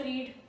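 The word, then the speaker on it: read: Meaning is past tense of रीड। This is the past tense of रीड means रेड। आर इ डी रेड।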